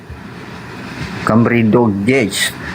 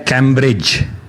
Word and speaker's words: Cambridge: nih nama kan nama kamrido g ah salah karena ini nama Bang ini dibacanya namanya Cambridge Cambridge karena ini nama dalam bahasa Inggris Cambridge Yes of course